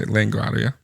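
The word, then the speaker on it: La Guardia: They were to return to LaGuardia Field in New York. LaGuardia is the airport in New York, in case you didn't know. Yeah, LaGuardia. LaGuardia. What did I say? LaGuardia.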